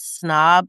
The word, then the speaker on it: Psnob: was was is called Snob. It's spelled p s n o b. The p is silent.